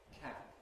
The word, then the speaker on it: cap: So we have various pairs of words in English, such as can and can, where the difference is, again, voicing in the general sense. Can, that's voiceless.